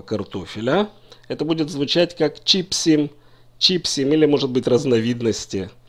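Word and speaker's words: צ'יפסים: Во множественном числе, если имеется в виду несколько кусочков вот этого картофеля, это будет звучать как «чипсим», «чипсим» или, может быть, разновидности чипсов. «Чипсим» – ударение не падает на окончание.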